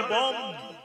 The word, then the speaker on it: বং: লেখা আছে বং, উচ্চারণ হবে বম।